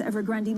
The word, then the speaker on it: Evergrande: burger here in london sometimes i call it evergrand sometimes ever grundy matt miller in berlin